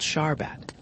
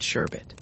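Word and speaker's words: sharbat: passed it to Hawksworth it's called Shar arbat the topy Wallas all seemed to like it and mispronounce it sherbet the water was sugar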